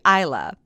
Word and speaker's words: Isla: Now, it wasn't until after this interview that Isla actually told me that how she pronounces her name is typically Isla, but she's never corrected me until after we recorded it or after the TEDx talk.